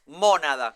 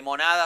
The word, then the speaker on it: mónada: que es mónada, con acento en la O. Porque monada No, suena como nada.